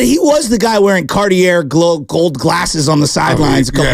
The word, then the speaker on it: Cartier: But he was the guy wearing Cartier gold glasses on the sidelines a couple years ago.